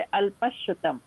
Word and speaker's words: अल्पश्रुतम: जहाँ संयुक्त अक्षर आता है वहाँ उसको डबल उच्चारण किया जाता है, जैसे अल्पश्रुतम, जो शी है शा, ये संयुक्त अक्षर है तो इसको डबल उच्चारण करेंगे, पहले वाले अक्षर के बाद ही बोलेंगे अल्पश और फिर श्रुतम।